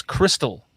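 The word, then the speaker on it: Krystal: in the south is Crystal with a K you ever you ever heard of that no KR y s t a l it's it's the same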